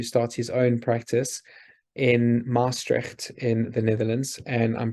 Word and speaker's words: Maastricht: He was going to start his own practice in Maastricht in the Netherlands, and I'm probably going to get berated about how I pronounce that.